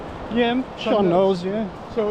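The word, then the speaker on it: sean nós: um uh going to be working with a Sean nose is that how you say it the singer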